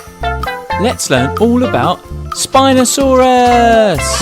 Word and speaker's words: Spinosaurus: let's learn all about spinosaurus how do you say that again spy no sub russ can you say it with me spy no saw russ do you know how